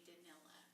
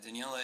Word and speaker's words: Daniela: They all say Danila. Oh, that sounds horrible. Yeah, Daniela is weird because it's just Daniel with an A, but nobody understands Trips it.